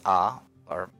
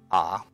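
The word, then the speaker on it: あ: them one by one this is ah ah it's equivalent of the vowel ah in English you pronounced this as ah the mnemonic for this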